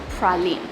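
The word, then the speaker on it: Praslin: Island it's actually spelled like this but it's pronounced pralin as far as I know it's the second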